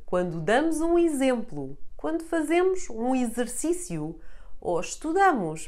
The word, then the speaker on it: exemplo: X is read like z whenever it is preceded by the letter E and followed by any vowel. It will be the first letter of a syllable, but having an E behind, forcing the sound of the X to become z. So words like exemplo, exercício, exame, or exausto are all read with the z sound.